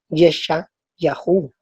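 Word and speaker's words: ישעיהו: Pero mira cómo se dice Isaías en hebreo, se dice Yeshayahu.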